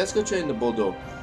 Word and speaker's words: Bordeaux: Yeah, let's go trade in the Bordeaux. It's Bordeaux, by the way, guys. It's not Bordeaux. It's Bordeaux. Little French pronunciation there going to work.